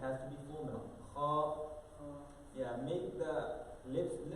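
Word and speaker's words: خ: This should come out from exact the beginning of the throat.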